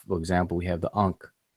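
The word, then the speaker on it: ankh: This unk right here that a lot of people are familiar with is a triliteral. It represents three consonants, but the way that people spell it in English, people spell it in English with the K and the H together.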